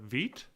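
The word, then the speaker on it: Vite: using um is it i think it's pronounced uh veet uh no so we're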